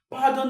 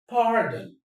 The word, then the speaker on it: pardon: Pardon is a verb. Pardon. Pardon me, please. Pardon. Pardon. Pardon me, though. The stress is on the first syllable.